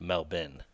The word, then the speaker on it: Melbourne: let me know because obviously Melbourne Australia is pronounced melbin so I'm interested to